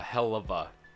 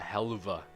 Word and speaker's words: Helluva: know why like helluva boss it's apparently it's pronounced uh hellava but I pronounce it heluva I don't know why I pronounce words some